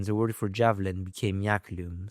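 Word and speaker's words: iaculum: In Latin, the word for javelin became yaklum, spelled I A C U L U M before the appearance of the letter J, pronounced like a Y.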